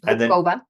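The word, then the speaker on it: Hubková: So, And for everyone's benefit, pronounce your last name Hopkova. and then pronounce the word for mushrooms in Czech. Hoba. So it doesn't really sound that close. No. Hopkova, Hoba, but children were always laughing at me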